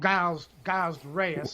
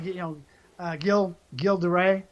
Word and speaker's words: Gilles de Rais: I'll roll this into Joan of Arc and Gilles de Rais? Yeah, Gilles de Rais. And so, in American, we call him Giles de Rais. Right. Properly, Gilles de Rais.